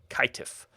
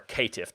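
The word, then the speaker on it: Caitiff: toriodor tremir vintru and kaitif or katiff depending on pronunciation same thing with zumitzi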